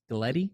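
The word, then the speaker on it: Gleti: Gleddy?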